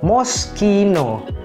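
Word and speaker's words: Moschino: ini sering kita baca sebagai moscino mosino padahal pengucapannya yang benar itu sebenarnya Gampang moskino moskino moskino Oke Langsung aja kita lanjut ke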